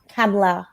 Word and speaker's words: Kamala: so miss Miz or let's say it correctly Senator camla Harris Harris absolutely camla Harris